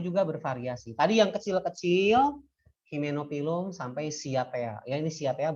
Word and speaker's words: Hymenophyllum: Himen, Y-nya baca I. Hymenophyllum.